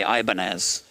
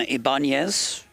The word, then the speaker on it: Ibanez: Ibanez, which is the right way to say Ibanez.